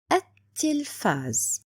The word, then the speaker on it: التلفاز: So the pronunciation will be at-tilfaz, like I don't see lam at all.